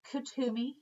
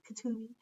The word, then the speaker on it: Kutumi: This is another one of my guides, Lord Kutumi, and it's pronounced Kutumi, like Kutumi, but you say it fast, Kutumi.